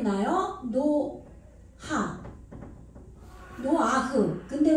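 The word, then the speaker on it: נֹחַ: 이 뒤에는 무조건 으를 붙여요. 히브리어는. 그래서 노아흐.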